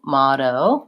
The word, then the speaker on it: motto: diphthong oh so thinking of it as being motto making sure you're lengthening on your last oh and you're saying more of an aw with that flap T in the middle is how you pronounce that word thank you for the